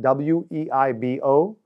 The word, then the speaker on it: Weibo: It's spelled W-E-I-B-O, but pronounced Weibo, and it is a combination of Twitter and Facebook and is very effective in China.